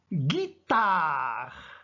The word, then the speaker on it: guitare: laiterie chez ea suivis de oh donc on prononce une goutte de mots suivants la guitare regardez bien et fait attention à ce bon